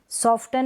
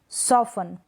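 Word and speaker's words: soften: सॉफ्टन नहीं पढ़ेंगे, सॉफन, क्या पढ़ेंगे, टी साइलेंट है, सॉफन, सॉफन। सॉफ्टन नहीं, सॉफन।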